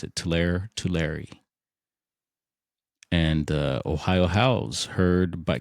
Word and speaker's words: Tulare: How do you pronounce it? Tulare.